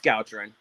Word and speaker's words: Gowcharan: It gets butchered all the time. I answer everything, but it's Gowcharan.